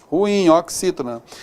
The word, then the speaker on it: ruim: A gente fala assim, na sua pronúncia e tal, mas na realidade, a pronúncia dessa palavra corretamente é oxítona. Ruim. É ruim, hein? Beleza? Então essa pronúncia correta, ruim aqui, ó. Ruim, oxítona.